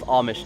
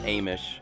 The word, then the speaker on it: Amish: Yep, well, it's pronounced Amish, not Amish.